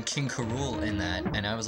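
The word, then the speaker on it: K. Rool: king k rool was supposed to be like pronounced king karool like cool because i was watching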